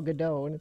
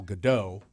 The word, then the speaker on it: Gadot: It's everybody wants to say Gal Gadot, and it's Gal Gadot. Dot. Yeah. D-O-T. Dot.